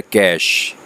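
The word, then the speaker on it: cache: कैश विषय पढ़ा जाए लेकिन घी जो है वह साइलेंट है इसका जो प्रोनोंसीएशन है जो उस को बोलने का स्टाइल है वह है कैश और है कैश मेमोरी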